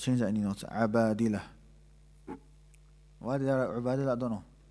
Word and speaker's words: Abadilah: In class, I think I pronounced it Ubadalah. But I asked a few sheikhs later on because a couple of brothers pointed it out. It's not Ubadalah, it's Abadilah.